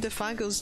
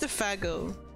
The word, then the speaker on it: Theo: if it were calling Theo's name ah I have to do windy sound what does wind sound like God damn it def oh it's it's not pronounced theago it's pronounced Theo it called Theo